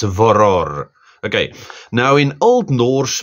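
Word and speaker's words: Vörðr: Yeah, I think if you click on Google to give you the pronunciation, it's VOROR.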